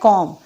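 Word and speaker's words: comb: के लिए वर्ब इस्तेमाल होता है कॉम जिसमें 20 साइलेंट होते हैं तो उसके साथ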